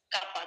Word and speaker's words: কাঁপা: চন্দ্রবিন্দুর ব্যবহার চন্দ্রবিন্দু যখন হবে কোন একটা শব্দের উপরে যখন চন্দ্রবিন্দু বসবে তখন এই শব্দটা নাক দিয়ে উচ্চারণ হবে। নাক দিয়ে উচ্চারণ কি? নাকে যেমন এটা কাপা কাপা। নাকে শ্বাস হবে।